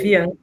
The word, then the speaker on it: Bianca: Acho que agora é a última, eu vou ver se eu vou pronunciar corretamente o nome, Bianca, se pronuncia como se lê? Exatamente, é Bianca.